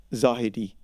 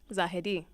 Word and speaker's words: Zahedi: You know, the real pronunciation is Zahedi. Zahedi. But no one would say that.